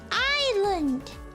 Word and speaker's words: island: But I mean it's island like it's land. It's land like like we have silent s and silent l why if silent why there why dare silent?